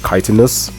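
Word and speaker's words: Chitinous: have a warlock with chitinas thorns yes that's how you pronounce it it's kitiness boost buff armor up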